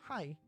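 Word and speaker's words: はい: This word sounds like hi or hi. However, remember how e sounds like e? The word hai is actually pronounced hai. Ha-i. But since Japanese is a language spoken at a rapid pace, the syllables tend to merge.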